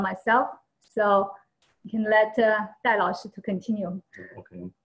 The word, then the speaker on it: Dai: My name is Day, but actually in Chinese it's pronounced Dai. It's D-A-I.